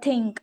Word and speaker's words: think: Another is think. Here th is pronounced as th, so it is think.